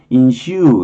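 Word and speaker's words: ensue: 인슈 이렇게 발음을 해요.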